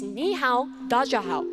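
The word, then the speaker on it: 你好，大家好: It's ni hao, da jia hao. And I know my pronunciation isn't great, but first with the desk, can you guys try and say that?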